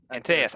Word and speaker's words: Antaeus: your guys' team, but is it Antaeus? Antaeus. I put an extra syllable in there.